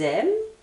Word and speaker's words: aiment: aimez ici j'entends ils aiment Z également et là l Z donc n'oubliez pas NT ne se prononce pas je vais insister sur